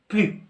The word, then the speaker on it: plus: الوغ الا جات في معنى النفي هنايا دائما هاد بلوس كتنطق بلو، ما كنطقوش اس وما كنطقوش زد.